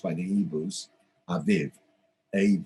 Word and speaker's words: Aviv: and it's spelt a b ib but it's pronounced by the hebrews aviv a v ib but it's written a bit